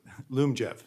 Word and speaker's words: Lyumjev: So that means, I may be mispronouncing it, Lyumjev, how do you pronounce that? Lyumjev.